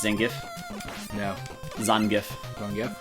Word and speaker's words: Zangief: Zangief. Zangief? Zangief is the correct way.